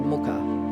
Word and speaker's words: Mookaite: it when it's got the double o then it can become a um an ooh sound if that makes sense. So I think actually realistically it was the Muka back in the day.